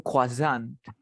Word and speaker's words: croissant: Exacto, es francés.